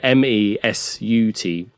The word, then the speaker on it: Mesut: And it's spelled M-E suit as a S-U-I-T. No I, so it's just a weird thing. So it's M-E. Oh, there's no I? Yeah, M-E-S-U-T.